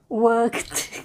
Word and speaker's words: worked: how about this one worked good good good good that's very good worked worked okay it's definitely a t sound at the end and the last one